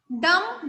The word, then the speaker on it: dumb: डम, DUMB, डम. अब देखिए DUMB में the letter B is silent.